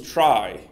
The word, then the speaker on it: trie: a trie, or a tree. Now, most people pronounce this particular word as trie, because the word tree already exists. But originally, the word trie came as a part of the word retrieval.